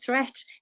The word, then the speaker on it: threat: Meet and great and threat. They rhyme with sweet, straight and debt.